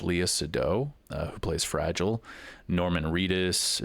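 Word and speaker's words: Léa Seydoux: I believe her name is pronounced Leah Sado, who plays Fragile.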